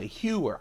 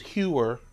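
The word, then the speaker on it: Heuer: I really do like my hewer. I call it hewer. People tell me I mispronounce it.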